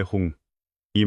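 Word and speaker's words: 훔: 음만이 밤매 홍이 맞습니다. 홍이지 항이 아닙니다.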